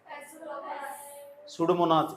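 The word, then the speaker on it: Pseudomonas: स्यूडोमोनास, इसमें P silent हो, स्यूडोमोनास।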